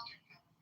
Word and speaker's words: Duggan: It's pronounced both ways, I've heard it, but I think I've heard it pronounced Duggan.